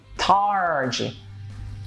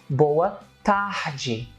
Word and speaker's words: boa tarde: in English so you can hear both origin tarah G and that's how most of the foreigners most